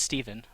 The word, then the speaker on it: Steven: It's not Stefan. It's Steven.